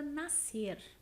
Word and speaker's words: nascer: Nós falamos nascer. E como a representação do SC ele é dado por um único som, por um único fonema, nós classificamos essa palavra como um dígrafo.